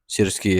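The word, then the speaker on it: Syrski: Sriski ya bacanya.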